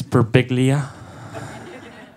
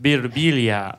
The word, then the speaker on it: Birbiglia: Mike Birbiglia, everybody. How are ya? Nice to see ya. John got my last name right. It's Birbiglia.